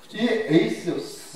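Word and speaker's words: εἰς: 전치사 에이스라고 하는 말인데이 에이스 우리 발음을 잘해야 됩니다 헤이스 하면 하나를 얘기하고 에이스 하면 어디를 향하라고 하는 뜻입니다이 에이스라고 하는 것은 어떠한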